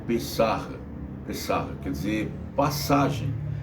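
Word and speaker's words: פסח: Não sei pronunciar direito, mas é pessarra.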